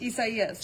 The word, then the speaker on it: Isaias: Remember when we got Isaias? Isaias. So much for easy to pronounce. You know what? I got that one down because I kept thinking in my head quesadillas.